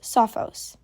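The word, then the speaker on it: σοφός: word try to pronounce it by yourself it's pronounced Sophos and it means wise here's our next example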